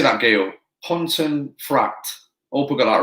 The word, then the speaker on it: Pontefract: Pontefract.